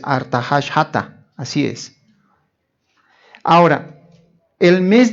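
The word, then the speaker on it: ארתחששתא: Aquí no dice Artajerjes, la pronunciación en el hebreo es Artahashata, así es.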